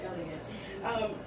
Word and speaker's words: Elliot: Mother Teresa, another woman of royal position, and then Elizabeth Elliot, or Elliot, am I saying it right? It is Elliot.